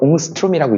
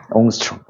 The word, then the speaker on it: 옹스트롬: 이걸 웅스트롬이라고 읽습니다. 참고로 알아두세요. 옹스트롬.